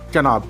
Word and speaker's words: चनाब: वहीं पाकिस्तान में पहुंचते ही इसका उच्चारण थोड़ा बदल जाता है और लोग इसे चनाब कहते हैं।